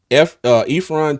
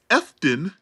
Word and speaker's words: Efton: Ephron Chisholm the third. I'm not gonna No, lie. Who is that, Prom? no, sir. It is Efton Efton. Chisholm the Third. You got to say it like you Oh, from gotcha.